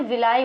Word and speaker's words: villi: ठीक है, तो ये फिंगर लाइक स्ट्रक्चर प्रेजेंट होता है, इसको क्या बोलते हैं, विलाई बोलते हैं।